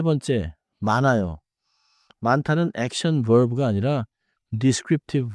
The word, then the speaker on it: 많아요: Sometimes the two consonants split across the syllable boundary. 맞아요. 먼저 원어민 예문을 세 개 들어 보세요. 앉아요. 읽어요? 많아요.